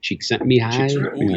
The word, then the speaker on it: Csikszentmihalyi: There's another one called Good Business by Mihai Csikszentmihalyi.